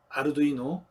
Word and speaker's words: Arduino: 이탈리아어로 아르두이노, 영어로는 아두이노인데 영어권 영향이 강한 한국은 아두이노라고 읽습니다.